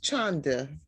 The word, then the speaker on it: Chanda: And it's Chanda, Gio. I've been saying it wrong.